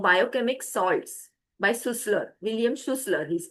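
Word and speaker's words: Schüssler: William Sussler, he's pronounced that way.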